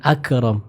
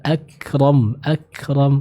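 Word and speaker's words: أكرم: Nah, hati-hati, bukan akram. Huruf kaf jangan dipantulkan. Jadi jangan akram, namun dibaca dulu dengan sifat syiddah lalu ditambahkan dengan sifat hamas ya. Contoh, Iqra wa rabbukal akram.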